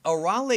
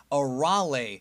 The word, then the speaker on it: Arale: Not to mention that right from the beginning, the narrator pronounced her name as Arale, not Arale, which is the correct way to say her name.